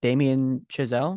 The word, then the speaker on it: Damien Chazelle: It is now officially, I think this is how you say it, Damien Chazelle.